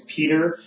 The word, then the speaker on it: Pieter: I have somebody, his name's Peter, but it's spelled Pieter.